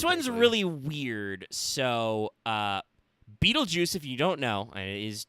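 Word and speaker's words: Betelgeuse: so um this one's really weird so uh beetlejuice if you don't know is actually pronounced that way um orbital guys you can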